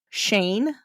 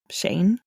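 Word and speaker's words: Cheyne: 1988, Chevy's parents pulled him and his younger brother Shane. I believe that's how you say it. It's spelled almost like Cheyenne, like C H E Y N E. So, I don't know. Shane, right? I don't know.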